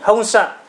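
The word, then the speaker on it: 本社: Honsha này của chúng ta là trụ sở chính, các bạn chú ý nhé, phát âm của chữ sạ, sạ khác mà xa khác nhé, các bạn chú ý. Honsha.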